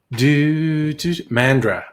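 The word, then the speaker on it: Mandurah: Mandra. Yeah, okay, yeah, I thought that's how you and Ray said to pronounce it.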